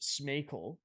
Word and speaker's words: Smejkal: Maybe the Smejkal kid that's come out of nowhere. Like, so his name is pronounced Smejkal. Smejkal, okay. Just because it's a weird name to pronounce.